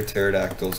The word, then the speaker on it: pterodactyls: why can't you hear pterodactyls go to the bathroom everyone's heard the joke and it's like because the p is silent and then and then